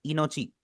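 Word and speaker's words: いのち: जैसे इंग्लिश में आपका वर्ड होता है सी। इसके जो डबल ई की आवाज है बिल्कुल ऐसा ही आपने इसे प्रोनाउंस करना है।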